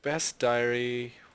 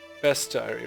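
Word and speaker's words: Bestiary: I'm going to call it Best Diary because it rhymes with diary.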